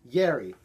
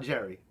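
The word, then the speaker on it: Jari: so Nick says PPS is pronounced Gary not Jerry Wow what a special snowflake this guy is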